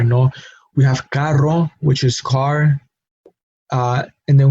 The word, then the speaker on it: carro: If we have one R, caro, we have a different sound.